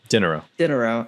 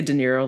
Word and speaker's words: Dinero: Dinero. I keep wanting to say De Niro, like Robert De Niro. It is spelled exactly like that, so I do not fault you.